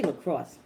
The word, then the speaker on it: LaCroix: water in so thank you how do you pronounce this Lacroix and once he look cross mm-hmm so the London you have got to